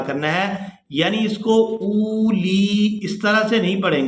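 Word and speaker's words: أُولِي: والارض جاعل الملائکۃ رسلا اولی۔ یہاں پر غلطی یہ کی جاتی ہے کہ حمزہ کے بعد ہے واو، یہ واو لکھنے میں آئے گی اور یہ پڑھنے میں نہیں آئے گی، تو یہاں ہم نے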